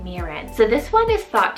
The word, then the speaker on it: Mirren: list here we have the name mirin spell m-i-r-r-e-n miran so this one is thought to come from